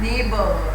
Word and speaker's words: neighbor: The person who lives your house, near your house, is known as neighbor, right? And neighbor also don't have GH sound. It is silent here.